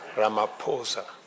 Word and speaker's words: Ramaphosa: Your Excellency, my brother President Cyril Ramaphosa. He just explained to me that the correct pronunciation is not what everybody else has been saying it is. Ramaphosa.